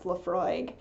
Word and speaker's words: Laphroaig: I did double-check I looked up how to pronounce Laphroaig I was pretty sure I knew and I